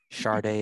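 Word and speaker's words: Sade: say her name oh we can say it how we say it on the cd now char day yeah charday sharday it is then i hate it i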